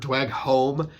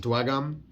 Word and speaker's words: Dweghom: And some people are like, well, it depends on, I've heard Dweghom and Dweghom. I would pronounce it Dweghom.